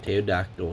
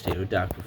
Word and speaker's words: pterodactyl: Yes, the P is silent, so it's not pterodactyl, it's pterodactyl for all you nimwits out there.